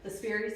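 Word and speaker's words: Spirisponge: Works perfectly with the Spiri sponge is how I pronounce it. Looks like Spiro sponge, but these are fantastic.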